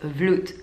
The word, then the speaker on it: Vloet: they say and my last name is root like like a fruit kind of yeah so